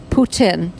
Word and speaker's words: Putin: Jasmine Z is that people who seem to know what they're talking about or be familiar with Russian pronounce the president of Russia's name Putin and really pronounce the T Putin.